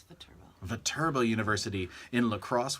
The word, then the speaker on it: Viterbo: Viterbo University? It's Viterbo.